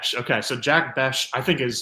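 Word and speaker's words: Jack Bech: Higgins and Jack uh I was always saying pronouncing it Jack Beck but it's Jack bash yeah b b okay so Jack bash I think is like seems to be the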